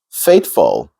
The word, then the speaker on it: faithful: And then another word is faithful, faithful. Now, this word, if you look, the emphasis is on the second syllable, full. Some people pronounce it faithful, fool. I've even heard faithful, faithful.